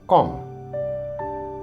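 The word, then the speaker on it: comb: इन the same way कॉम इसमें भी B silent है अतः हम इसे कॉम पढ़ते हैं कॉम इन the same way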